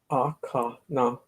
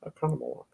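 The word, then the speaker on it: Oconomowoc: the town of O's, Akanamawak. Akanamawak. You should hear people butcher the name of that town. It doesn't seem that hard to me. I just think of like economy, Akanamawak.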